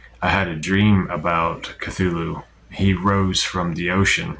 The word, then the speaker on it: Cthulhu: Some people say Cthulhu. Some people say Cthulhu. If you listen to my dream incubation video on him, I pronounce that Cthulhu. And that's kind of the approximate pronunciation H.P. Lovecraft gives.